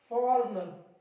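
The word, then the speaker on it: foreigner: अगला देखिए जी साइलेंट, जी को कहां साइलेंट करना है, एन से पहले। कहां पे, एन से पहले गाइस आपको इस जी को साइलेंट रखना है। देखिए ये रहा आपका एन, इससे पहले आया जी, पढ़ेंगे इसको sign, design, रिजाइन, फॉरनर, फॉरनर, जी नहीं पढ़ेंगे, एन से पहले आ रहा, फॉरनर का मतलब विदेशी, बिल्कुल।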